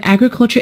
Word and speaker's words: agriculture: The word agriculture is a noun, and it is stressed on the first syllable.